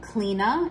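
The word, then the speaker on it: Clíodhna: know well known um clena is how you pronounce this which you know a lot of i like that there's pronunciation as well presented because if you try to just sound this out it's definitely not going to come out as cleaner unless you are fluent in welsh um or you know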